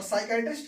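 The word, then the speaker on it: psychiatrist: ठीक है, और साइकाइट्रिस्ट क्या होता है, वो होता है मनोचिकित्सक, मनोचिकित्सक, मनोचिकित्सक।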